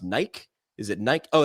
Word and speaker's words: Nike: It's a little company called, I believe it's pronounced Nike. Is it Nike? Oh, it's Nike.